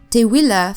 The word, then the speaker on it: Tewila: I looked up on how to pronounce this name because I wasn't sure, and when I saw that it was pronounced Tewila, I was like, wow, this is beautiful.